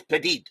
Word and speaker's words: Petit: It's pronounced petit like petite. Oh, so it is petit. It is petite.